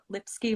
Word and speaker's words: Lipsky: And my last name rhymes with whiskey, in case you have a hard time pronouncing it. Lipsky whiskey.